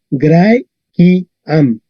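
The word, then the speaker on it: Graeciam: ki, Recordar que la C se pronuncia K.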